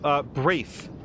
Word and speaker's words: Braith: Okay, so, Braith is what we're learning is the correct pronunciation. Thank you, Mia, for clarifying that.